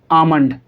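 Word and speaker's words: almond: काम, बाम, पाम, आमंड। ठीक है, कुछ लोग उसे आलमंड ही पढ़ते हैं लेकिन वो पढ़ना गलत होगा क्योंकि यहाँ पर लेटर एल साइलेंट है।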